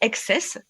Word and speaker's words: XTSS: On peut prononcer Access, même si ça s'écrit XTSS, mais Access Climate.